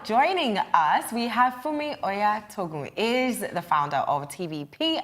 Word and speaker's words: Oyatogun: Now joining us, we have Funmi Oyatogun, is the founder of TVP Adventures.